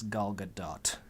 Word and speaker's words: Gal Gadot: Laugh at me for trying to pay respect to actresses, but I looked into it and I watched a video of her saying her own name, and it's Gal Gadot.